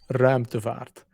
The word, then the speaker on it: Ruimtevaart: No, but the correct pronunciation is Ruimtevaart.